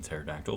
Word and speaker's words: pterodactyl: No, the P is silent in pterodactyl.